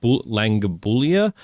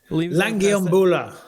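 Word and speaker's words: Lungiambula: He later found out that it was because Magomed Ankalaev had knocked out Dalsha Langabulia. Langiambula.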